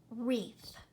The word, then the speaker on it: wreath: pronounce these words okay WR is another silent consonant pair look at this first word this word is wreath wreath like the wreath